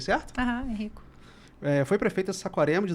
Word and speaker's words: Henrico: Manuela Pérez é mãe de 2 adolescentes, Isabela e Henrico, pronunciei certo? Henrico.